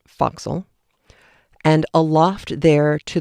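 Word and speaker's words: forecastle: down into the foxhole which is spelled for castle f o r e c a s t l e but it's pronounced foxel and a loft there to the royal mast head.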